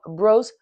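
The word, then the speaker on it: Brault: It's called Bros or Baralt is how you would say it if you were to say it how it's spelled. But here I am in Vermont and they call it Bros.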